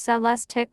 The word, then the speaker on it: Celestiq: two motor odd system the celestic pronounced cell less tick will be handcrafted at